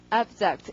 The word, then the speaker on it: abject: 강세가 앞이고 발음이 abject 이럴 테고 자, abject라는 말은 멀리 던져지니까 이게 비참하거나 비열한이 될 것이다.